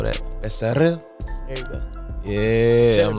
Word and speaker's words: Becerril: So proper way to say my last name is Becerril. Becerril. But in English it'll be Becerril. See how I roll that? Becerril.